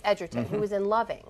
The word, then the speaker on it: Edgerton: It's Edgerton, who was in Loving, right?